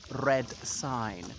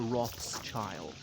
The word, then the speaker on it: Rothschild: um anyway uh so the name which actually should be as in red sign when they came here the pronunciation was anglicized to roth's child and so they've been